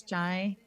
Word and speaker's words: Shai: I was saying to Shai and it's Chai.